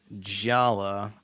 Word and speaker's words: Jaller: jala anika okay so it's it's spelled jaller in case you're having trouble finding him oh uh thank you